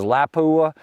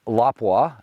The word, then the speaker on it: Lapua: premium brands that come from overseas we all pronounce them wrong you know you've got everybody says Lapua and it's lapa and then you've got you know like KES